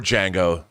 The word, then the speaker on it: Django: you have you have our django the d is silent you know because i'm